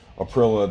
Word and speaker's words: Aprilia: So I wrote everything down here, and the most important one was that smart ass that put Aprilia does not rhyme with gorilla on my YouTube channel.